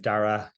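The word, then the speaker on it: Darragh: now because everyone's rules it's Dara you can ignore the G and the H um I'm the CEO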